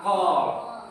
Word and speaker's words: call: Ya, call. Tulisannya C-A-L-L, bacanya call. Ya. Ya, kalau di dalam bahasa Indonesia dibacanya child. Tapi kalau di dalam bahasa Inggrisnya dibaca dengan call, yang artinya memanggil atau panggil.